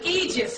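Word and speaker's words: aegis: THEM, NOW THEY HAVE THESE THINGS CALLED an eegis. HAVE YOU EVER HEARD THE PHRASE EEGIS? It's spelled a e i.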